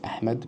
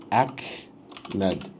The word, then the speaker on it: Ahmed: I'm pretty sure it'll be able to pronounce Ahmed correctly. But you know sometimes some people might pronounce this as amed which is wrong right? It's like ahmed.